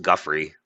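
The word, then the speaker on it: Giuffre: It was always pronounced Guffrey.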